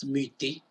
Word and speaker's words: muter: Avec le temps, on ne prononce plus le « r », on dit « muter ».